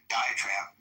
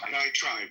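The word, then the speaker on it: diatribe: Um and by the way, the more I think about diiogenesis diet trade, um diet trap, how do I pronounce that one? Diet tribe. Tribe.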